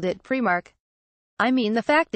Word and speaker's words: Primark: So it's obviously, as the store themselves confirmed, spoken as Primark.